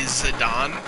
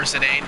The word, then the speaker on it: Zidane: I love to talk, you know, and I think my favorite Final Fantasy character is probably Zidane or Zidane, depending on how you pronounce it.